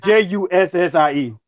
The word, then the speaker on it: Jussie: Okay, yeah, that's a weird way to that's a weird way to spell it, but it's like Jussie. Jesse's girl.